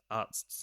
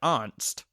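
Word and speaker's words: Arzt: Uh, we get this incredible discussion between Hurley and Arts where they're trying to pronounce Arts's name and Hurley's like, "Artst." He's like, "No, Arts. A R Zt."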